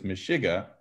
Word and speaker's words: meshuggah: most meshiga right because he doesn't say meshuggah he says meshiga and in his songs